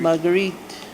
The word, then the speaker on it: Marguerite: How do you say the name? Marguerite. Marguerite. Marguerite.